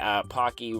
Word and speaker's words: Paqui: It does say Paqui rhymes with hockey on the back, so that you know how to pronounce it.